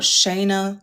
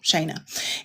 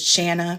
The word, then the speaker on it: Shana: Shayna. And I always have to tell people like Dana so that they pronounce it right cuz I always get Shanna, Shauna, Shanay